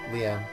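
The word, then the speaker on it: Leene: beautiful Len's bell sounds No that's not Len that's Leen or lien yeah lean I like lean's Bell better than leans I always pronounce it as Lenn uh Len would be two NS CU there is two NS no it was lean it was two e oh huh that might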